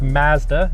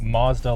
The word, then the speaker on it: Mazda: to tell us that it is pronounced Mazda, not Mazda like it is in the United States.